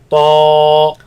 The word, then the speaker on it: طا: So this letter ends with Alif. Let's pronounce it. Ta, طا Ta, طا Ta.